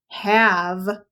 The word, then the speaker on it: have: tricky because it had a letter in it that you do not hear did you remember that it has an e on the end have has an e but it doesn't make the a a long a have is spelled h